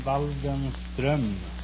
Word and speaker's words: Waldenström: No, it's umlaut on the O. In Sweden, you pronounce the name Waldenström. Waldenstrom?